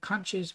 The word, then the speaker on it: conch: So get the conches while you can. Yes, there are 2 ways to pronounce it. I prefer to do conch.